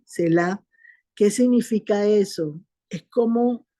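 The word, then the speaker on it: Selah: salmos se ve mucho Esa palabra cela se escribe s e l a H cela Qué significa eso Es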